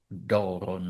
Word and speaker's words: δῶρον: falls on the omega), and if that vowel is long (as here: omega is a long vowel), and if the last vowel is short (as it is in our case, since it’s an omicron), then the accent is always and necessarily circumflex. So, in δῶρον, the accent is circumflex.